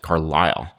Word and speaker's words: Carlyle: Who I recently learned, actually, I think he's pronounced it Carlisle, which is very weird to me, but I'll just keep saying Carlisle.